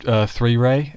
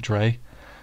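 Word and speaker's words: 3rei: liked is much as 3 ray and that's how you pronounce it 3 Ray not Dre oh yeah three three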